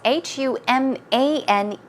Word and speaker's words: humane: Stray cat, and also we had the word humane, right? Human without the E, but as you see, it's H-U-M-A-N-E, so it's pronounced humane.